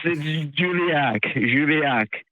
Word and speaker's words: Julachak: You did really butcher the name. I'm so sorry. It's right on. It's okay. I don't mind. It's Julachak. Juliac.